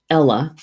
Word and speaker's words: eala: card today's card is the Swan in Gaelic it's I think it's Ella I remember right the pronunciation of the word and let me get to Swan yep Ella it spelled the Gaelic is spelled EA la Ella meaning Swan in Gaelic isn't